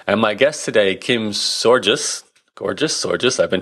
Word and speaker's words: Sorgius: my guest today Kim's georgeous gorgeous or just I've been told so I just rhymes with gorgeous stuff to get the